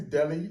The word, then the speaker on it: Dele: you go thanks guys um my name is Delhi you know I sometimes I say it